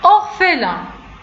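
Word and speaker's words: orphelin: أورفيلان، لاحظوا أن بي دونك بي حداها اش نطقنا بها حتى هي اف دونك أورفيلان.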